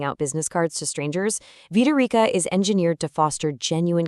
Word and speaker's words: Vitarika: And just a quick note on the pronunciation, it's Vitaroka. Let's say it together. Vitaroka.